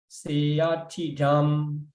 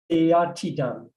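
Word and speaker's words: seyyathidaṃ: Some following to the Pāļi grammar, Seyatidam is pronounced as the seya. It changed to it because of the double ya. But still in Myanmar, still it continues seya.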